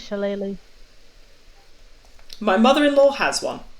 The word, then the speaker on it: shillelagh: Shillelagh, yeah. Or Shillelagh, either way. It's Irish, right? Mhm. It's Shillelagh.